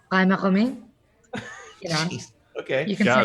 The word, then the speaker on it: Ghaemmaghamy: So the English pronunciation is Ghaemmaghamy. What's the New Zealand pronunciation? It's not New Zealand. It's originally it's an Iranian name. So it was actually pronounced Ghaemmaghamy.